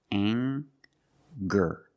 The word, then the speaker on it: anger: We have the nasal sound plus the hard G, the G sound. Together, anger. Anger.